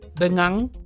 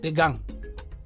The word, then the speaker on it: bengang: for bengang roots however only the person who wrote it can remember to pronounce it as bengang later on someone else would be tempted to pronounce it as began which means which means persons so you see that